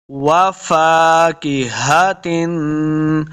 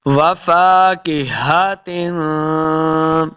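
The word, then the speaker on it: وَفَاكِهَةٍ: مخرج صحیح ادا ہوگا۔ وفاکہۃ، اس کاف کو موٹا نہیں کریں گے، ہا کو تلفظ کے ساتھ پڑھنا ہے، ہا کو حلق کے نچلے والے حصے سے ادا کریں گے۔ وفاکہۃ، دیکھیں تا کے نیچے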